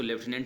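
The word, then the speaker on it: lieutenant: मैं इसको लेफ्टिनेंट ही प्रोनाउंस करूँगा बिकॉज हम ब्रिटिश इंग्लिश को फॉलो करते हैं।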